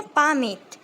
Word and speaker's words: palmate: इस पे लिखिए PALMATE, है ना, पामेट।